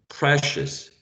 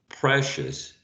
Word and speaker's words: precious: i o u actually you take all these and you pronounce uh a schwa precious precious so never oh never